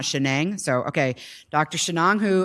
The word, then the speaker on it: Shenang: Shenang Hu, and I think I've been pronouncing his name wrong all these years, but Prasad told me it's Shenang and not Shenang.